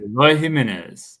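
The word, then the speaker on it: Eloy Jiménez: Eloy Jimenez.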